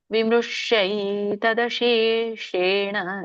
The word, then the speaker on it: ವಿಮೃಶ್ಯೈತದಶೇಷೇಣ: ಇತಿ ತೇ ಜ್ಞಾನಮಾಖ್ಯಾತಂ ಗುಹ್ಯಾದ್ ಗುಹ್ಯತರಂ ಮಯಾ ವಿಮೃಶ್ಯೈತದಶೇಷೇಣ. ಇಲ್ಲಿ ನೋಡಿ, ಇಲ್ಲಿ ಕೂಡ ಶಂಕದಶ ಮೂರ್ಧನ್ಯ ಶ ಇದೆ. ವಿಮೃಶ್ಯೈ, ಶಕೆ 50 ವಿಮೃಶ್ಯೈ ತದಶೇಷೇಣ, ಶೇಷೇಣ. ಶಂಕದಶ ಷಟ್ಕೋನ ಶ, ಬೇರೆ ಬೇರೆ ಉಚ್ಚಾರಣೆ.